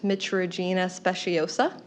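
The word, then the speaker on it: Mitragyna speciosa: I believe it's pronounced Mitragina speciosa.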